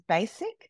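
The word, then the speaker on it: Bassike: In Australia, one of our amazing clients is Basic, who certified recently, beautiful designer, luxury basics, or, you know, premium basics brand. For those that don't know, it's the one that's spelled B-A-S-S-I-K-E.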